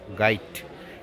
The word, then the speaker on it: গাইট: তাহলে উচ্চারণটা গাইড মানে লাস্টে ড না, লাস্টে ট, গাইড, ঠিক আছে?